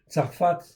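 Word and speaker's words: צרפת: Voilà pourquoi la France en fait ici si elle s'appelle Tarfat ici Tsarfat en fait ici avec un pH ou un F comme vous voulez c'est la prononciation en fin de compte qui compte en fait ici et bien en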